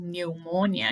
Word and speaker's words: pneumonia: cholesterol nervous breakdown gastritis pneumonia pneumonia this is good right pneumonia you don't pronounce the p varicose veins chicken paws